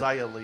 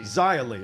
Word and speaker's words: Xia Li: Is that Shia Lee? Is that how she pronounces it? Xia Li. Xia Li.